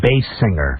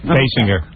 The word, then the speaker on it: Basinger: Bass singer. Basinger. Like a bass singer.